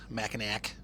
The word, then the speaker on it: Mackinac: Pleasant and then continuing on up to to Mackinac Mac a knack my father-in-law oh my gosh still cracks me up he was i we he was going to sue st.